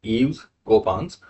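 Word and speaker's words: Yves Coppens: इव्स कॉप्स ए्स कॉप्स अ कोपंस French word है तो इनका प्रोनाउंसिएशन ऐसे ही होता है। तो ईव्स कोपंस तो यहां पे कोपंस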